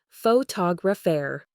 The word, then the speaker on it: photographer: For example, in the word photographer, the stress falls heavily on the second syllable photographer.